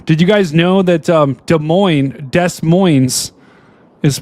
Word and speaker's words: Des Moines: Now, did you guys know that Des Moines is pronounced... Well, this guy's saying the S is silent. Dude, what do you guys think? Cap. It's Des Moines.